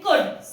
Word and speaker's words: could: Just like in कुड, COULD, इसको हम कुल्ड नहीं बोलते हैं, हम इसे कुड बोलते हैं।